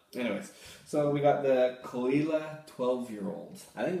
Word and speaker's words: Caol Ila: there's so many anyway this one is call like c-u-l-l and eli is in like e-e-l-a i guess okay i'm